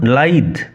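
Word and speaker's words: lithe: বানান উচ্চারণ লক্ষ্য কর। এল আই টি এইচই উচ্চারণ লাইদ হিজ মুভমেন্ট বিকামস লাইদ এন্ড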